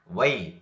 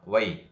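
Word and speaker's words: why: ವೈ, ಇಲ್ಲಿ W ದ ನಂತರ H ಬಂದಿರೋದ ಕಾರಣಕ್ಕಾಗಿ ಇಲ್ಲಿ H ದ ಉಚ್ಚಾರಣೆ ಆಗುವುದಿಲ್ಲ. ವೈ.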